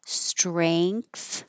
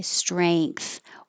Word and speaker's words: strength: This word can be pronounced with an A, strength. So I'm making A, strength. Or it can be with an E, and then you don't have the ng in the back, ing.